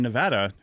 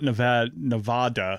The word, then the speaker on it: Nevada: And it's like people who in Nevada who have it's Nevada, it's not Nevada. Yeah. It's Nevada. Nevadans get very uppity about the pronunciation of Nevada.